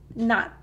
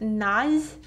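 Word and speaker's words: 낫: So it's not pronounced naz, naz, but it's pronounced not, not. So it's same with 시읒받침 or 지읒받침. So not, not, not. So when you're pronouncing these words, your tongue should be placed underneath your front teeth.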